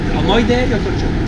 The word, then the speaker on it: Omoide Yokocho: Omoide Yokocho. Very good. Tariq's pronunciation was so great.